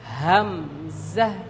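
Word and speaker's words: همزة: আমরা সবাই আরেকবার বলছি হামজা আরেকবার বলুন হামজা।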